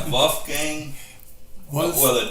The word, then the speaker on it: Wolfgang: How do you spell that? WOLF. WOLF. GANG. Oh, Wolfgang. Okay. Yeah, Wolfgang. They call it Wolfgang?